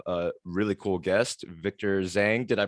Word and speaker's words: Zheng: today we have a really cool guest victor zhang did i pronounce that right correct yes well victor welcome